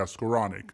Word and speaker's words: Skowronek: Yeah, Skowronek.